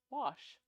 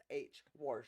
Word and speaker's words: Wash: Wash. There's no R. WORSH. Wash.